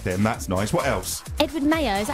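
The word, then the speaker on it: Edward Maya: Edward Mayer. Is that how you say it? Yeah, I think that's how you say it. It's like Edward Mayer as in the calendar.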